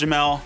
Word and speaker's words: Jamal: Yo everybody, I'm Jamel, spelled Jamal, pronounced Jamel.